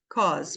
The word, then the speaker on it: because: duas que que acontece esse e é mudo então fica bec because because Às vezes tem